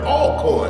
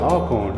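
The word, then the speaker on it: Alcorn: oh yeah this is all corn it's pronounced all corn all corn okay all corn sticking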